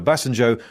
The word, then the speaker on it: Obasanjo: needed to get to grips with the tricky pronounciation of Nigeria's Yoruba names a former President Olusegun Obasanjo was broken down to Ray me me Ray